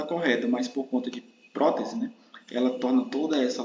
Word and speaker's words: prótese: for analisar essa palavra prótese Qual é a sílaba tônica aquela sílaba mais forte é pro imagine né que você está